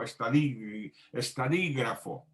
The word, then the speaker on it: estadígrafo: Tiene el acento en la I, ¿sí lo vio? Estadígrafo.